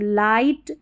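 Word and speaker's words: light: तो देखिए लाइट, नाइट, हाई, राइट और ब्राइट। यहां पर आई को आई पढ़ा है। जी एच साइलेंट है।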